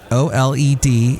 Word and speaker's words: OLED: some yeah and that's how they pronounce it o l e d it's pronounced OLED these are premium TVs and the